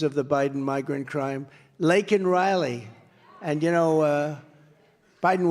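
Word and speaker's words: Laken Riley: many innocent victims of the Biden migrant crime lak and Riley and you know uh Biden was unable to pronounce her name called called her Lincoln Riley and this was right after how terrible is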